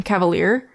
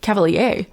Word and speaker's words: Cavalere: fairy and her um Cavalere. I tried to mispronounce it again. Um I keep missing mispronouncing it cuz I read it and my brain's like cavalier. Cavalere like that's not Cavalier was the was one of the ones I had.